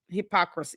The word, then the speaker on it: hypocrisy: It's hypocrisy. It's 4 syllables.